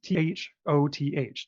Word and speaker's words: Thoth: A lot of people, it's Thoth, Thoth is often how it's pronounced.